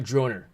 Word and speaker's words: Droner: I think Dusty, his name was Drone R Gaming, not Droner, unless it was Droner, which rhymes with goner, which rhymes with loner, which rhymes with donor, kind of spelled like honor.